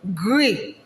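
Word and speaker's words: gris: i take it again the gray is pronounced as what greek like the s is what silence then the feminine is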